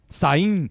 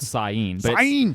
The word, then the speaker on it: Samhain: Yes. Sain. It's the Celtic celebration was called Sain. But it's spelled Samhain, Samhain.